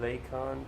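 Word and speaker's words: Lakon: hauler in the game pronounced like lacon type nine lake on titan nine so okay that's what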